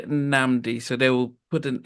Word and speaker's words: Nnamdi: And I think he said Nnamdi, and I was Th- like, That's actually correct. "It is." Because it's Igbo, so it's a Nigerian name.